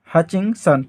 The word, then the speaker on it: Hutchinson: आर.सी. हचिंसन। T silent रहता है इसमें।